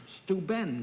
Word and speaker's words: Steuben: Say, I promised the people up at Corning, New York, that I'd say that the glass that's made up there is pronounced Steuben glass, and not Steuben glass.